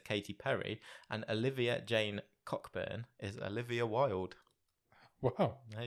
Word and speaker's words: Cockburn: isn't you think he's one of those people who pronounce it Coburn yeah definitely I don't know if going call yourself cockburn are you it's that